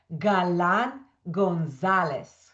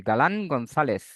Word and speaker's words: Galán González: you Adulfo because it's very easy but Galan Gonzalez that's that's okay. Yes. Normally it's the the set is a bit difficult I would say. Galan Gonzalez, but but but even people here don't say it like that.